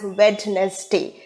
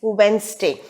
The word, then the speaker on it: Wednesday: and that is wednesday so w-e-d-n-e-s-d-y is never pronounced as wednesday it is wednesday uh so again i have told you that